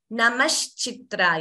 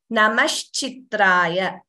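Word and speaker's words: namah shambhave: thing I'm noticing is please be clearer while pronouncing namash shamb same sh is there here also shamb namash we should not chant it as namas namash the sh and CH both should be clear so all these words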